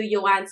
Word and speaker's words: Yohance: Other than my mother, nobody calls me Yohance. So that's really the way to say it.